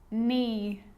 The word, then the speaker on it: knee: A K is not pronounced when it comes before an N, like knife, no, knee, knock, not, knowledge.